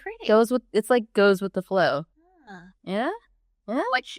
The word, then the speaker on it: Ye: It's spelled Ye in English for some unknown reason, but it's Ye like the leaf Ye.